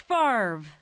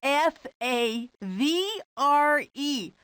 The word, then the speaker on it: Favre: The name is pronounced Favre. F A V R E.